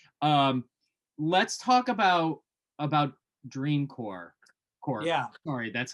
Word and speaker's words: Dream Corp: last minute here um let's talk about about dream core corpse yeah sorry that's how they pronounce it dream corpse that's a good segue for marijuana yeah exactly